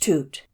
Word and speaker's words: tutu: life for some time tutu pronounced toot is a plant which